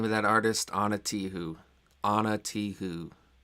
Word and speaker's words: Ana Tijoux: It's spelled kind of like you would think, except the last bit is like French. It's OUX. So it's Anna, ANA, and then like Tijuana, TIJ, but then OUX.